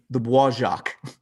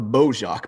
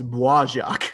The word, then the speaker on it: Bois Jacques: the I got to say this right, the Bois Jacques. Yep. In the video, I called it the Beau Jacques because I'm a Midwestern redneck, and I've had the Americans said who there said it.